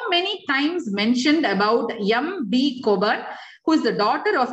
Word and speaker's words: Cockburn: And this woman, Margaret Bushby Lascelles Cockburn, it's not Cockburn, we pronounce it Cockburn.